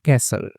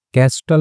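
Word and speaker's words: castle: Form built बनाए सन कैसल ठीक है तो कैस्टल नहीं पढ़ते कैसल का मतलब महल होता है सैंड से बना हुआ है।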